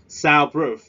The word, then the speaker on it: soundproof: Soundproof. Soundproof. Repeat please. Soundproof. Soundproof. We stress at the first syllable.